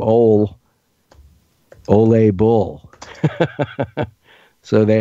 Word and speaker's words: Ole: words for a name because it's spelled Oh le and his last name is bull so it's the Norwegian name ole ole a bull so